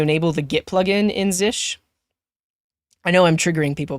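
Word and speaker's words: zsh: use zish now and it's pronounced zish not Zell but if you check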